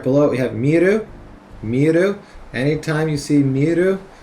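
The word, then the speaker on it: 見る: And it with plus ru is also just pronounced miru, and that is to look, to see.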